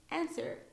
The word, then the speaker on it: answer: be careful and then lastly we have W answer not answer answer and who so here it's in the middle and here it's in the beginning of the word so answer and who we have the two words with a silent W uh there are many